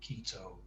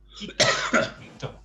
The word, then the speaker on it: Quito: My daughter-in-law's mom lives in Quito, and I'm always calling it Quito. And you know, they say Quito.